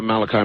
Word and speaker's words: Malachi: Father Malachi, is it? Yes. Okay, pronounced it right.